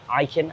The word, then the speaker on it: Ikin: just outside the gym i'm joined with anthony eiken and we're pronouncing that correctly yes you are beautiful it's